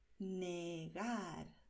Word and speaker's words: negar: Negar. ¿Ves que la R al final de palabra se pronuncia de la manera sencilla? Negar. ¿Vale? No hay vibración aquí. Negar.